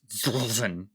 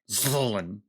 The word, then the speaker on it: Ztlin: i pulled zitlin i think i think that's that way you actually pronounce it uh is zulzen zolan all right so uh if you're gonna say his name to me you better say it like that or i'm not